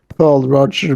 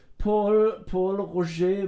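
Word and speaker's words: Pol Roger: and I think there he pronounces it Paul Roger Bru, because I think it's French.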